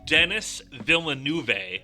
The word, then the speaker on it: Denis Villeneuve: I say Villeneuve. It's Denis Villeneuve.